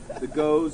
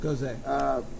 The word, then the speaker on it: Gose: brought 2 beers that were more on the goes sour edge of it. Gose, So- according to Gose. Professor Brandon, correct? It's actually Professor Brandon, pronounced Gose. Goes A.